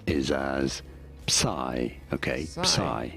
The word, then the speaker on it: psi: But in English, yes, it is generally said as psi.